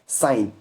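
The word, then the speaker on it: sign: से पहले जी है जिन रहेगा और तीसरा साइन आप यहां पर देखो एस आई जी एन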